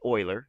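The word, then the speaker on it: Euler: guys can read about it's pronounced Oiler Leonard Oiler all right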